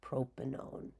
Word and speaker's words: propanone: and replace it with, it looks like 1, but we pronounce it own. Like a common ketone you guys would be familiar with would be acetone. So this would be known as propanone.